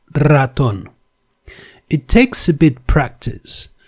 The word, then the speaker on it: ratón: That can never be pronounced as ratón. It has to be rolled, ratón.